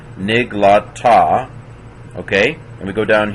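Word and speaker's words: נִגְלָתָה: So nig, that's a silent schwa, closes the syllable. Niglata.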